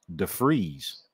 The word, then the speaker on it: DeVries: man yep agreed Daniel sergeant said the actual pronunciation of his last name according to Tony K is Def freeze so it's an F instead you know I